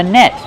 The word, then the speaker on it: net: It's called a net. This is a fishing net. How do we pronounce net? Use the short S sound like red and bed. Net. Then use a stop T.